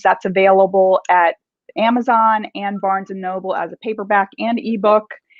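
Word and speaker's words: Barnes & Noble: uh i have to give you kudos for pronouncing it barnes and noble my one of my mom's the biggest pet peeve she worked there was when folks would say barnes and nobles oh no there's no man no but it's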